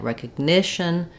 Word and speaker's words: recognition: with Shun t n the syllable before the shun gets dressed so in words like recognition communication magician we're always stressing on that vowel right before the final syllable um we do again